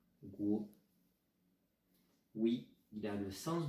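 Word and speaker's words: 国: Ce caractère se prononce guo.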